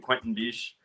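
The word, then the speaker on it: Quentin Bisch: Quentin Biche. Right. I think that's how you pronounce his name.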